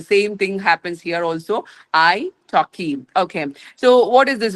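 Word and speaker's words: italki: It taki. Okay. It okay. And it's like you know I T A L K I pronunciation is very different and like iPhone when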